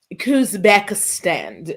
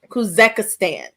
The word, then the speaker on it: Kazakhstan: Kazakhstan. I didn't say it right. Kazakhstan.